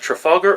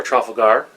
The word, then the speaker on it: Trafalgar: Battle of Trafalgar, and it can be pronounced Trafalgar or Trafalgar. It depends on where you come in the world, because you'll hear it both ways.